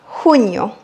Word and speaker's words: junio: En Amérique latine, on prononce le J comme si on faisait passer de l'air doucement. Le J, c'est la J. J. Comme si on expirait de l'air. Alors qu'en Espagne, on racle le fond de la gorge comme si c'était le R en français.